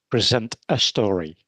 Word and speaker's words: Present a Story: And if you pronounce that quickly, you say Present a Story.